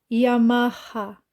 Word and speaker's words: Yamaha: de R por exemplo como se ler esse nome Yama a Não Yamaha Como se lê esse nome onda City não Ronda cit porque essa letra tem som de